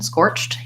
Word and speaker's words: scorched: to answer your question scorched you do really want to hear that T otherwise it's gonna just